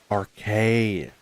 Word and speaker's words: Arceus: Yeah, we call this game Archus. There's Archus, there's Arus, there's like 14 billion pronunciations for it and there's only one correct one cuz I have to be an like that and say it's Archus just to be that guy.